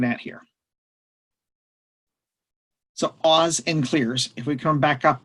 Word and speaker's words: CLR: accounts and this one I abbreviate CLR and pronounce it clear it's just an acronym